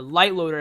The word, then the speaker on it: LiteLoader: ahead and find the light loader it's spelt light like so and not actual light and go ahead and